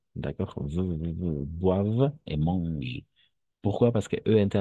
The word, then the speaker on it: mangent: Alors, la seule remarque, attention, ENT à la fin, ENT à la fin, on ne le prononce pas, on n'entend pas.